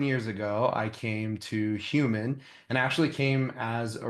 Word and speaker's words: Hueman: We didn't misspell it. It's intentionally misspelled, but it's not that complicated to say. So it is Hueman.